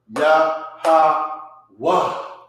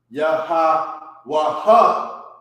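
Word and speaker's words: Yahawah: So now this sound is ya, ha, wa. It's not ya, ha, wa, ha.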